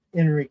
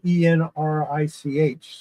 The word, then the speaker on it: Enrich: I think Enric is how you pronounce his name. Uh it's spelled e n r i c h, so it could be enrich, but I think it's Enric.